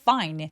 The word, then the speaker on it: fine: It smelled fine. fine 발음할 때 F는 윗니가 아랫입술 바로 뒤쪽에 가볍게 닿아서 바람 소리가 확실하게 느껴지게 해주시는 게 포인트예요. fine, fine, fine 아니고 fine 이렇게요.